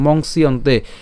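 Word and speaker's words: মংস্যন্তে: দুপুরতং monks ইয়ন্তেত এই জিনিসটাকে আমরা বলেছি কি মংসিয়ন্তে এই দুটো পর্যন্ত উচ্চারণ করতে এই যে পুরাটাই আমরা একসাথে উচ্চারণ করবো মংসিয়ন্তে মংসিয়ন্তে বা মংস ইয়ন্তে ঠিক আছে মংস ইয়ন্তে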